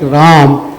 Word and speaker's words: Rama: translated from Sanskrit and in Sanskrit you pronounce the final a generally and even in tulsidas for metrical for metrical purposes we say Rama V huh um so um that's just a matter of pronunciation but I don't I don't do that in the book I say Ram not am bus take